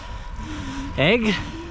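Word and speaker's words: Aigle: driven 45 minutes to Egg, I think is how you pronounce it, or something like that. It looks completely different to the pronunciation, but I've been told that's how you pronounce the town name, and it's actually where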